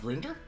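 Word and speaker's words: Grindr: Isn't that pronounced Grinder? Yep. Well, in Britain it is.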